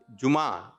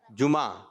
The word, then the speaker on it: جمعہ: جمعہ, جیم پر کیا ہے پیش, میم پر زبر, جمعہ, جمادی الاولی, جمادی الاخری.